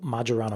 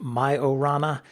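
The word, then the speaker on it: Majorana: show first uh a little bit of a pronunciation dispute in the last episode we talked about Microsoft's new Quantum chip called majaran 1 it's named after an Italian physicist aniss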